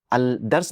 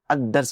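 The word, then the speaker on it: الدرس: तो आप यह नहीं कहेंगे अल तुर्की आप कहेंगे अ तुर्की अल सौब नहीं कहेंगे अऊब कहेंगे अल दर्स नहीं कहेंगे अदर्स कहेंगे तो आप पूछेंगे कि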